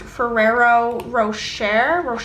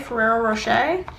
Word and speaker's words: Ferrero Rocher: I think it's properly pronounced Ferrero Rocher, Ferrero Rocher.